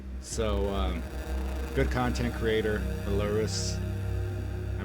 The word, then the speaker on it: Ailurus: um good content creator Belarus is how he pronounces it and this is just